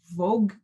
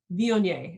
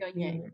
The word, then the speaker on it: Viognier: I went somewhere once and they told me, I was like, Vogue, how do you say it? And the woman's like, Viognier. And I'm like, Viognier. She goes, like mayonnaise, only not.